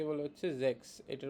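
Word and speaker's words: sechs: সিক্স কে বলে হচ্ছে Jacks এটার উচ্চারণটা হবে হচ্ছে এস এর উচ্চারণটা হবে হচ্ছে যে এর মত করে যে এর মত করে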